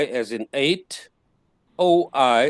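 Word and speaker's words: οι: i as in eight o i as in oil a u as in sauerkraut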